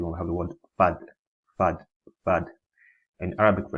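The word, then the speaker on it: ف: Next is fa, fa, pronounced using the inside of the lower lip and the tips of the two top front incisors now, like so.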